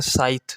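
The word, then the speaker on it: scythe: इसको पढ़ते हैं साइथ, इसमें सी साइलेंट है।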